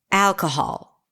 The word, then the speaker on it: alcohol: you say the word alcohol. Do it with me. Alcohol. On what syllable did you clap, nod your head, snap your fingers? The first syllable, right? Al Al if not then you